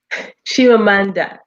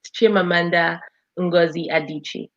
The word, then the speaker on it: Chimamanda Ngozi Adichie: name again because i'm sure gonna picture the pronunciation shivamanda so it's an evil name so she's from the east chimamanda ngozi adichie ngozi adichie wasn't that hard excellent and we